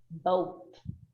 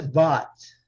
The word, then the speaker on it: bought: Vocês estão vendo que nós temos aqui, então, 3 letras que a gente não pronuncia. Esse UGH, gente, na maioria das vezes ele não é pronunciado, não, tá?